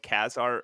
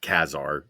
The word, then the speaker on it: Ka-Zar: It is not Ka-Zar, like you just said. On the very first page, pronounced Ka-Zar.